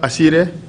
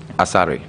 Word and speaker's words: Asare: Peter Asire. Peter Asare.